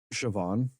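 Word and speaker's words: Siobhan: you you're the worst the only time I'm accepting of people's names not being pronounced the way they look is if you're Irish because they're all over the place with that like sioban man that's spelled s i o b h an like a psychopath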